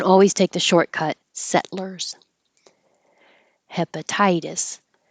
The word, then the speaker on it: hepatitis: take the shortcut settlers hepatitis hepatitis anything that ends with itis is going to be two syllables stress on the first syllable itis the T changing to a d pilgrims pilgrims and here's